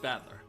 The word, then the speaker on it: Battler: plausible the problem is my own name beep is made up of the characters for fight in person it's pronounced battler put it all together